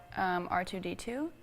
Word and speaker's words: R2-D2: Do you say it like R2 a word or R2 the number or letter R and the number 2? R2. D2. So like letter R number 2? Yes, is that correct?